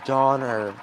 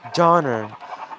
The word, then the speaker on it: Donner: Am I saying it wrong? Doner or like doner? I'm pretty sure it's donor or is it doner? Oh. Oh. So, it's Donner. Okay. Donner pass. Okay. Donner.